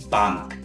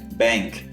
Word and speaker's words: Bank: fala banco em alemão Bank não Confundi com a pronuncia do inglês que é Bank beleza pessoal e caso